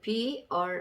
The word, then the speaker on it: bright: 단어 중간에 GH가 있을 경우에 그 묵음인 경우가 있다라고 이렇게 돼 있는데, 자, 한번 보실게요. 그 BRIGHT라는 단어가 있습니다. BRIGHT. 자, 이렇게 단어 중간에 G랑 H랑 나와 있는데요.